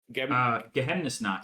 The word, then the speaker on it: Geheimnisnacht: Geheimnisnacht.